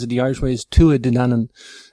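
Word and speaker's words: Tuatha Dé Danann: I should pronounce it the Irish way is Tu a denan pronounce it like I say it in English but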